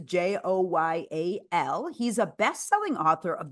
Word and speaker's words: Joyal: Fred Joyal rhymes with royal, but it's a Joyal.